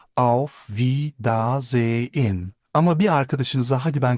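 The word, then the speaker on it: Wiedersehen: Telaffuzu biraz uzun gelebilir. V da ze in ama bir arkadaşınıza hadi ben kaçtım der gibi vedalaşırken en çok duyacağınız kelime çüz.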